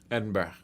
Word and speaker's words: Edinburgh: Edinburgh is Burra. Edinburgh.